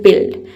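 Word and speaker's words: build: ध्यान रखना है कि इसमें यू लेटर साइलेंट रहता है। इसमें केवल हम बी आई एल डी को ही पढ़ते हैं। बिल्ड।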